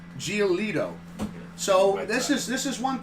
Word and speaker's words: Giolito: How do you pronounce his last name? Giolito.